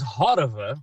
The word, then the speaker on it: Horova: So the word is Horova.